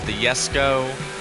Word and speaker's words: Jesko: Koenigsegg's, I'd love to see some Koenigseggs in there, like the Jesko, as it's pronounced, even though it's spelled with a J.